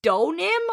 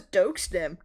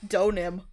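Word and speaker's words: Deauxnim: It's Donim. I thought it was I thought you could hear the X. Oh man, I thought it was Doim. Doim sounds cooler. I'll pronounce it right from now on. Donim.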